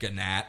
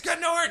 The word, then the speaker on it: Gnort: But everyone keeps pronouncing his name Gnat. And he's like, it's Gnort, not Gnat. Anyway, moving on.